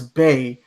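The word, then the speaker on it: Bea: Bia? I don't know how you say it. Bae. So Bia is Bae. Yeah. Bia is new Bae.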